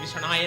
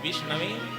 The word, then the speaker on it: विष्णवे: जो पढ़ा लिखा नहीं है, मूर्ख है, वो विष्णवे नमः जगह में कुछ भी कह देते हैं, विष्णाय नमः कहते हैं, और वास्तविकता में क्या है? ओम विष्णवे नमः।